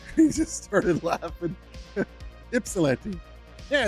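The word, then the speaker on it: Ypsilanti: I was like, "Gplanty." He just started laughing. Ipsilante.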